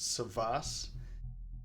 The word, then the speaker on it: Savvas: play and you pronounced it correctly it is pronounced savas also there is no plural for savas so it is a savas or many savas